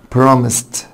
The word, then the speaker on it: promised: طيب promised، هتقول لي الاس بعدها او صوت سا بعد الاي دي بتنطق تا، فعشان كده هقول promised في الخانة بتاعت التين.